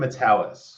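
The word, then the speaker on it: Matalas: Metallis. Metallis. I keep wanting to throw an L like in there. Metallica, but Metallis.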